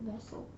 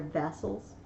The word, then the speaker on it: vassals: By the way, vassals with an A. Oh, you were wrong. I've seen it in other books. It's okay. Because I always pronounced it vessel. Yeah. Oh, okay. They're vassals.